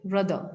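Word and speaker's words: rather: जैसे हम दर पढ़ रहे हैं विदाउट स्ट्रेस, अगर हम विदाउट स्ट्रेस आर ए पढ़ेंगे तो शायद हम इसको रदर पढ़ें, बट रदर would be द wrong pronunciation for this word and इट इज रादर।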